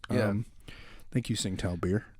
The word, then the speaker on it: Tsingtao: Tsingtao. Yeah. Thank you, Tsingtao beer. Because it's pronounced with a T.